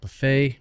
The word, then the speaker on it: buffet: did not change finally there are some silent letters because they're they are words from french like buffet bouquet by the way the main stresses on on the last part all right now let's